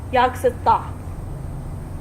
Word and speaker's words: Yaksatha: Speaking of that, there's that name, the yogurt or yoga south or yoga. It's pronounced Yaksatha.